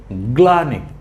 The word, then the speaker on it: গ্লানি: ক্লান্তর পরের শব্দটি হচ্ছে গ্লানি গ্লানি গ ল ফলা আকার গ্লা ন রসিকান্ গ্লানি গ্লানি কি দুঃখ ভাব মনের কাতর ভাব কষ্ট এটাই কি গ্লানি গ ল ফলা আকার কি হয় গ্লা গ্লা ন রসিকারিণী গ্লানি এই শব্দ হচ্ছে স্লীলতা বড়